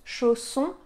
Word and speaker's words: chausson: un o ouvert pomme chausson au pomme vous entendez que ce o il est différent du O de aux chausson au pomme e fermé a ouvert alors on va le goûter